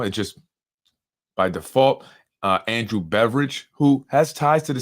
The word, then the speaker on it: Beveridge: by the name of Andrew Beveridge, not spelled like beverage, but more like Bev and Ridge Hill. Beveridge.